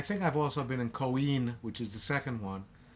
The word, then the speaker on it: Coin: It's not pronounced coin because in Italian that's pronounced Coin.